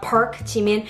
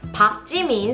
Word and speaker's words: 박: It's never pronounced as Park. It's not Park 지민. It's Park 지민, so keep that in mind.